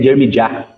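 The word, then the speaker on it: Yirmeyahu: Essa pronunciação Jeremias não existe em Israel. A pronunciação seria Jermijah, nossa forma mais curta,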